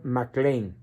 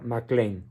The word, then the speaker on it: Mac Lane: que no lo sepan se escribe Mac Lane en inglés pronunciación mcclain todo junto mcclain guion Ocampo por qué